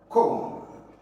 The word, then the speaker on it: comb: Then you can have something like comb. The B is silent.